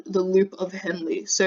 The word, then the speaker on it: Henle: So Henle is the one that's weird. Like it looks like Henle, but it's because it's someone's name. I think it's German or something. It has a different pronunciation. So that one's just Henle.